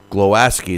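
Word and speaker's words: Głowacki: Well, you know, he was calling out Glowacki as soon as Glowacki is how they pronounce it.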